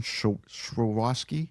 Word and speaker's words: Swarovski: And it's covered in Swarovski. How do you say that word? Swarovski. Swarovski crystals. There's no value to it because it's not for sale. Not Swarovski. Swarovski. Swarovski. Yeah. There's no SCH.